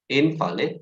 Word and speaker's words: invalid: the first, and then when you say it's a verb, then you stress the second.